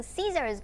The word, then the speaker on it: scissors: Và các con nhớ giúp cô đó là cái từ scissors của mình lúc nào cũng có âm z ở đuôi nhá. Lúc nào mình cũng thêm s ở cuối cùng nhá.